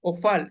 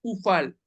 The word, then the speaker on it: hofal: del hebreo moderno eh Ya no se pronuncia ofal ya es ufal todo en el hebreo moderno es con la u con con la kibutz los tres puntitos es